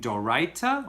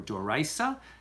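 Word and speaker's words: d'oraita: And this is the difference between doraita or doraisa, depending on your pronunciation, and derabbanan, okay?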